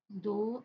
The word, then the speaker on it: though: The word thou, the word thou, thou, though, the word though, the pronounce the rhyme with the word low.